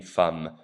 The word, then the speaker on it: femme: Notice again that the E sounds like an A in femme. Une femme.